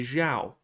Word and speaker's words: Zhao: That's how you pronounce Zhou. You say Zhao.